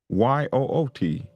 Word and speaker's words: ute: Um, Somebody said oot is pronounced Yoot. Ute? Is that it? Ute?